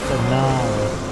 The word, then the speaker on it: Anala: is pronounced Anala.